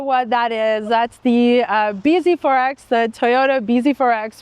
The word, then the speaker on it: bZ4X: That's the BZ4X, the Toyota BZ4X, which some people, including Alex, maybe he started it for all we know, pronounce as busy forks.